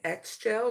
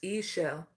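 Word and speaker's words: Ixchel: was saying it wrong I was saying X Shel but in this culture it's eell eell is a a Mayan goddess Moon Goddess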